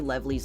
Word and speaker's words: Levely's: You could say Levely's Landing. It's spelled like Lovely's, but it's like Lev, like my name, L-E-V.